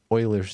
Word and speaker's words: Euler: something and this number they're approaching is called euler's number okay these are approaching something called euler's number as it is pronounced euler not eubler it's euler's number and